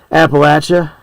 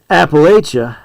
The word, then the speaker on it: Appalachia: See, I pronounce it both ways, and I believe that both ways are acceptable. But it is telling because more southern you go in the hills, they'll call it Appalachia.